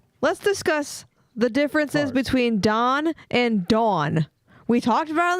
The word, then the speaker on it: Dawn: Don and on no Don d o n dawn like lawn and law Don like law Shany